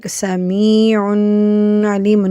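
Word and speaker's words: سميعٌ عليمٌ: Here we do not do the gunna. We are supposed not to do the gunna here. We say it like with clarity, without any gunna.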